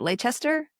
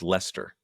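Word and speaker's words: Leicester: out in is it Lchester? Lchester. What is that? Is that in the United Kingdom? Yeah, Lchester. I think it's pronounced Lester.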